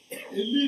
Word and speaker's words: Élie: Donc juste la prononciation est la même, mais la terminaison qui est différente. C'est Élie le prophète, c'est terminé à E. Élie, le sacrificateur, terminé à I seulement.